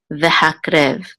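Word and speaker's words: והקרב: This goes together, and this shava is silent, so vehak. And this is a resh with tzere, and then the vet says rev, vehakrev, vehakrev.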